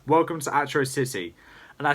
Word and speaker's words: Atrocity: with it is actually how Monkey King pronounced Atro City in that episode, but it was fixed in episode 2. And the reason why he said Atro City instead of Atrocity like all the villains